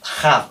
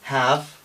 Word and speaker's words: have: español poco entrenado diría Primero cometería este error es decir have con j eh mientras que es have have es una aspiración muy suave y esta a por ejemplo la pronunciaría una a española abierta grande amplia Clara have y no es así Esta es entre a y e have de acuerdo qué pasa